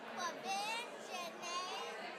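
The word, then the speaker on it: Quvenzhané: Quiven Janae Wallace.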